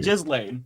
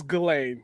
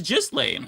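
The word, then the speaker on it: Ghislaine: No, it's literally Jiz Lane. It's It's spelled that way, but I think it's pronounced as Gain. Yeah. No. Okay. Go to one of the the um how to pronounce videos. It is Jiz Lane.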